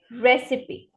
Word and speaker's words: recipe: set of instructions right how do we mispronounce it as recipe so C emphasis recipe what is it re recipe repeat after me recipe next this is very